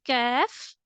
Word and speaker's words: kaf: The second letter is kaf. It will be pronounced in a lighter tone. So to make it lighter, you need to let the sound out from your mouth like kaf.